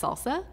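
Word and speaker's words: SLSA: resilient systems use the supply chain levels for software artifacts pronounce salsa and end-to-end framework for accessing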